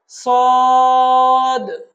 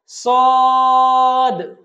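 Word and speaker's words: صاد: শিন পরের হরফ হলো সদ বলুন আমার সাথে সদ সদ এবং এই হরফটার শেষে একটু ধাক্কা দিয়ে আমরা উচ্চারণ করব যখন দালের দালের মত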